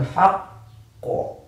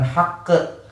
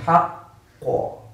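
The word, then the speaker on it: الحق: Misalkan kalimat yang sering ada dalam Al-Quran, minal haqqo, itu bacanya minal haqqo, bukan haqqe, karena dia karena di huruf qaf isti'alah. Minal haqqo, haqqo.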